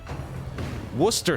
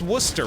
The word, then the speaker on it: Worcester: Worcester sauce. Wait, it's just Worcester, right?